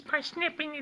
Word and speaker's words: Parsippany: Parsippany, New Jersey. That's right. It looks like Parsippany, but it's Parsippany. They always spell it and pronounce it incorrectly.